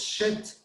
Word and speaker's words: shit: Sheet es el sonido de la vocal es largo, es una I larga. Sheet, la palabra, la mala palabra, es corta, es shit.